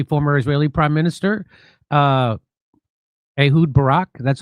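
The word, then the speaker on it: Ehud Barak: They are blackmailing uh uh uh the Israeli former Israeli prime minister uh Ahood Barack, that's how you say his name.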